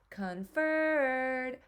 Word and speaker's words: conferred: the word home so if I were to say conferred that's like I I like would enunciate or stretch that second syllable and also a way to tell is that Co n we don't say con we say k which is um that o is is representing that schw sound and usually the UN accented syllable has the schw sound um so since that